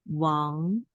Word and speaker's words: 忘: And then on the top of this character, the pronunciation is Wang. Wang. This is wangji的wang.